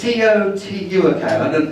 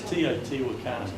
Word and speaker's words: Teotihuacan: This is Teotihuacan. That's probably the wrong pronunciation. The wrong pronunciation? It's Teotihuacan.